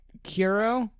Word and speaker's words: Kuro: I'm going with Kuro, just because I was told about this from a Japanese person. That's how they told me to pronounce it.